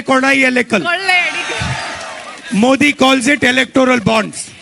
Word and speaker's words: കൊള്ളയടിക്കൽ: കൊള്ളയടിക്കൽ, കൊള്ളയടിക്കൽ, കൊള്ളയടിക്കൽ, കൊള്ളയടിക്കൽ, കൊള്ളയടിക്കൽ. In Malayalam you say kolai elekal.